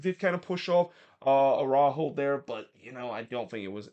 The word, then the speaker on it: Araujo: I'm just gonna pronounce Araujo. Just gonna go with the Spanish pronunciation, even if I have heard some announcer said it's Arujo or Arujo.